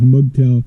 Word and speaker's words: MGTOW: yes the mgtow guys mugtail of course you know like nobody could say it right right so I just say mgtow I know there's no I in there but I just mtow you know fight me